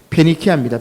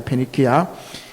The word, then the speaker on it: 페니키아: 요것을 이제 베니게, 발음을 우리 한글식으로 바꾸니까 베니게라고 되어 있는데 페니키아입니다. 페니키아.